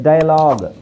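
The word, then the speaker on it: dialogue: ಟಾಂಗ್ ಆಗುತ್ತೆ okay next ಡೈಲಾಗ್ ಇಲ್ಲಿ ಇದರ ಅವಶ್ಯಕತೆ ಇಲ್ಲ ಡೈಲಾಗ್ ಯು ಅಲ್ಲ ಡೈಲಾಗ್ ಯು ಮತ್ತೆ ಇ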